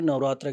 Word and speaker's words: नवरात्र: नौ रात्रियां होती हैं तो उसे नवरात्रि नहीं कहा जाता उसे नवरात्र कहा जाता है। इसलिए इसका सही प्रोनाउंसिएशन चैत्र नवरात्र होता है।